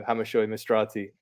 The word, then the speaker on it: Hammershøy-Mistrati: in europe this season it's randa's captain vito hamishoi mastrati and hopefully i've done justice to your name